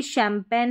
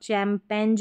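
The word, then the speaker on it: champagne: यहां पर देखेंगे तो जी का जो है उच्चारण नहीं हो रहा है। साइलेंट आ रहा है।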